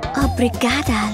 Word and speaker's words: obrigada: Obrigada, Luis. Did I pronounce that right?